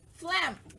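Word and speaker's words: phlegm: is uh flatus okay but the other example is Flem it sounds like an F but it's spelled pH Flem okay so you need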